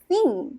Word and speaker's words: theme: 팀인가? 팀이 어떻게 읽지? 라고 생각할 수 있지만 이거는 theme 이렇게 읽어버려야 돼요.